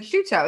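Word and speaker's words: Ciuto: correctly you did actually it's like shoe it's like chuto it's like chew and toe it's italian it's spelled very very similarly to prosciutto i feel kind of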